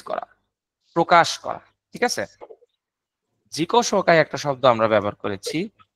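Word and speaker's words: 自己紹介: এরপরে খেয়াল করেন উচ্চারণটা, খেয়াল করেন জিকো শোকাই। এই যে জিকো শোকাই, জিকো শোকাই, এটা হচ্ছে অ্যাকচুয়াল উচ্চারণ।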